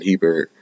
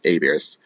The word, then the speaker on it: Hebert: I'm sorry, not Hebert, Abear. When you read it, it sounds like Opie Hebert, but I believe it's pronounced Abear. So John Abear. Sounds like it's French. Maybe it's like a Louisiana, Cajun origin or something like that. But whole last name is pronounced Abear.